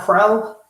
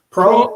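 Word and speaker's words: Proehl: have that kid Austin is that prowl Pro yeah Pro because that's Ricky Pros uh son Ricky Pro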